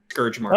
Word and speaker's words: Scourge Mark: I think Um, pronouncing it Scourge Mark is Intent- good because it sounds like Scorch Mark.